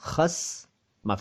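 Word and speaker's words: ख़स्म: अगर कोई नुक्ते का ध्यान रखे तो वो खसम बोल देता है, खसम। ठीक, असल में ये शब्द है खस्म, खस्म, ख के नीचे नुक्ता, आधा स और म, खस्म।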